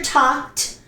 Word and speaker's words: talked: Pronunciation T, talked, talked. It is not talked. I hear talked, but no, it's wrong. It is talked, not talked, no talked, okay?